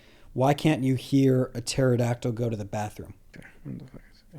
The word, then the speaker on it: pterodactyl: So he said, why can't you hear a pterodactyl go to the bathroom? I mean, I get it. We're trying to be here. It's like, this sounds like shit. What is it? Because the P is silent.